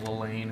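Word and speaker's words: Llane: And then, of course, you got the King, Lelaine. How you say it? Double L. Right, double L. Lelaine is.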